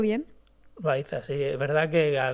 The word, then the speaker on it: Loaiza: ¿Lo he pronunciado bien? Loaiza, sí.